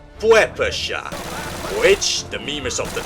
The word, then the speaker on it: PPSh: A fun fact about the PPSH-41 is that it's pronounced something like Puepesha, which the memers of the time nicknamed Papuchka.